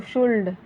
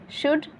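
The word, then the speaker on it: should: इसको कुल्ड नहीं पढ़ते, इसको शुल्ड नहीं, इसको वुल्ड नहीं, कुड, शुड, वुड, ठीक है, ऐसे पढ़ा जाता है।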